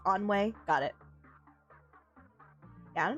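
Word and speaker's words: ennui: Oh, it's pronounced onway.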